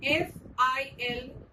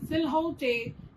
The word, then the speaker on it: silhouette: For example, the spelling Silhouette is not pronounced as silhouette, but it is pronounced as silhouette. So in this case, you will have to memorize the spelling.